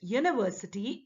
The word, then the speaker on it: university: example a university though this word university is starting with you which is a vowel but what is the sound the sound of this word the letter with which it starts as you but the sound is yeah so your is not